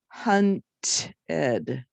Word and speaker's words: hunted: Or it has the ed sound if I have it in a word like hunted. So if the base word ends with a T or a D, the ed says ed.